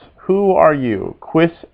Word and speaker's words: quis: that from last time how do you say who you remember quiz quiz s who are you quiss s in b this